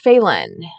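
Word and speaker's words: Phelan: to meet a man named Edward faen I think is how you say his name p h l an Edward was born in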